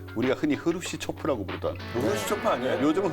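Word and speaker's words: Хрущёв: 돌아가고 그 와중에 당시에 이제 소련 공산당 서기장이 그 우리가 흔히 흐루시초프라고 부르던, 흐루시초프 아니에요? 요즘은 흐루쇼프라고 하더라고요. 왜 이렇게 바뀌었죠? 그러게요. 우리 발음이 옛날 역사책이나 그러니까.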